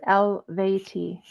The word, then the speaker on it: Eluveitie: Oh, Eluveitie, spelled Eluveitie, pronounced Eluveitie.